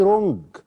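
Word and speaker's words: wrong: لانهم ما بيقدرونيش دي رونج والدبلو ما بتنطقش دبليو ار او ان جي ما بتنطقش الدب الصح ايه ان مرتبك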